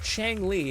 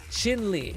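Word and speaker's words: Qingyi: Also, it's not Chang Li. It's Chin Li, I think is how it's pronounced. Chin Li, I think is how it's pronounced. Not Shang, it's Chin, I think.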